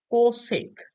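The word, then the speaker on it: cosec: আমরা সংক্ষেপে লিখবো হচ্ছে সেক এটাকে আমরা আমরা উচ্চারণ করবো হচ্ছে সেক আচ্ছা এইবার এটাকে আমরা লিখবো কোসেক মানে এটা সেক আর এটাকে আমরা বলছি আচ্ছা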